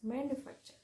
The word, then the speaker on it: manufacture: Four syllable word with the stress on the third syllable is manufacture, manufacture.